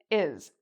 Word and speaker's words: is: Many students actually mispronounce this word: "is", and it's a very common word in English. The reason they mispronounce it is because the "s", here, actually sounds like a "z" sound.